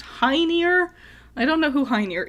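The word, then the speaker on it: Hœnir: odin loki and someone whose name is pronounced high near i don't know who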